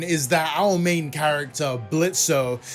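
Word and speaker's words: Blitzø: The plot of Helliver Season 1 is that our main character, Blitzo, the O is silent, runs a mercenary company that specifically deals with disgruntled sinners who want revenge on people still living in Earth.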